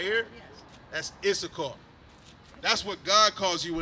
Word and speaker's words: Issachar: This right here, how do you pronounce that? Where you at? Right here? Yes. That's Issachar.